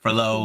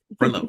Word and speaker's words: Frelow: Our guest today is Frelow. Am I pronouncing that correctly? Yes, you are. Okay, not Frelow or Frelow. Frelow. Okay, Frelow.